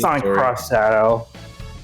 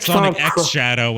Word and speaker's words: Sonic X Shadow: it Sonic Shadow is Sonic cross Shadow they pronounce it Sonic X Shadow and all the official stuff okay cuz I feel